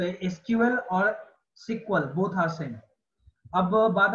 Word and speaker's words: SQL: Starting में इसको सिक्वल कहते थे, सिक्वल यानी कि एसक्यूएल, सिक्वल आप इसको अगर प्रोनाउंसिएट करोगे तो सिक्वल होगा। और जब भी आप किसी डेवलपर वगैरह से मिलोगे, जो कि खासकर पुराने डेवलपर हैं, वो हमेशा एसक्यूएल को सिक्वल ही बोलते हैं, क्योंकि बोलने में ज्यादा आसान है।